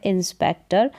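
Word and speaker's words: inspector: तो यहाँ पर ये जो टी ओ आर है, तो टॉर करके उच्चारण नहीं होगा इस ओ का। यहाँ पर ओ का उच्चारण क्या होगा, अ करके होगा, इस नियम के अकॉर्डिंग, इस रूल के अकॉर्डिंग।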